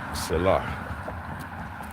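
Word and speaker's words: Salat: S-A-L-A-T, Salah. Because sometimes in Farsi you may not necessarily pronounce the last character.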